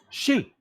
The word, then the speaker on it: Xi: no I mean Act how do you pronounce XI like xinping Xi Jinping she right it's pronounced she so take she and Twitter